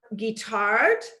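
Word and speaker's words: Guittard: cocoa powder that maintain free trade practices are guitar and that's spelled g-u-i-t-a-r-d and green and black and they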